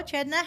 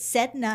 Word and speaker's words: Cedna: I would have pronounced it Cedna had I not known. It was Chedna.